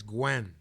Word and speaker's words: Nguyen: So how does one say this last name if it's spelled Nguyen? I know something is I want silent. to say it's Gwen.